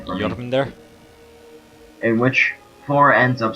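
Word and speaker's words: Jörmungandr: The next duel is Thor and pronounce the name for me. Jormungandr?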